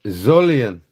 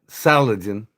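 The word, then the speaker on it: Solingen: How to pronounce the word Zolian. It's Zolon, not Salagen.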